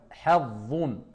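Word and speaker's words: حظ: On sort la langue et on remplit la bouche. Hazzun.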